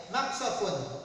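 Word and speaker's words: مقصف: Ini qaf berarti menggunakan ki ya, bukan ta ya. Maqsafun.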